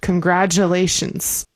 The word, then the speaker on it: congratulations: Yeah, the T in congratulations, we say like a J sound. Congratulations.